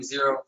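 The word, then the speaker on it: Xero: I'm Zero, X-E-R-O, we spell it.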